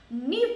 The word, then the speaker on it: Niamh: It's pronounced Neve, N-E-V-E, but it's spelled N-I-A-M-H.